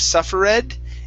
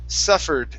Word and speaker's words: suffered: your last word is the word suffered instead of suffer red it's suffered suffered greatly suffered greatly